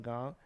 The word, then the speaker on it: Van Gogh: Scorsese as Vincent Van Gogh. I almost said Goff, because it's Go or Goff. That's 2 different pronunciations.